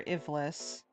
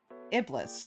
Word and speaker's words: Ivlis: Continuing to work on your Ivlis. I keep mispronouncing as like Albus, Iblis, like the Iblis trigger, Sonic, but B,